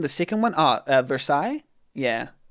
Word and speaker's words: Versailles: Oh, the pronunciation the second one. Ah, uh, Versailles. Yeah, Versailles.